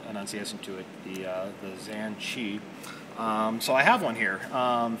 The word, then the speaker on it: ZhanChi: I got the new ZhanChi, and I know that I butchered the name.